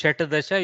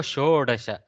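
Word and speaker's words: षोडश: was the next number shed but due to sandees it has become show dash so soft okay no shut the shatta dasha is so if you try to pronounce shayta dasha you struggle okay so show dasha very very congruent okay um then sapta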